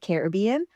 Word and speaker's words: Caribbean: People say it Caribbean or they say it Caribbean. I looked up the proper definition of pronouncing the word, and it is pronounced both.